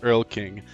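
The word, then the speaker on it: Erlking: Also, beans is pronounced Earl King, the name of the first of the fa king from the various Euro folk folklores. Earl King, I prefer my pronunciation.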